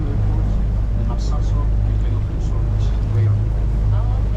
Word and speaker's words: Qaqortoq: Qaqortoq.